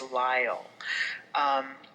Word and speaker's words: Lyle: mystery revolving around Cassandra Lyle and I did contact the author and asked her how she pronounced the last name because it could have been one of at least three things it is Lyle so Cassandra is a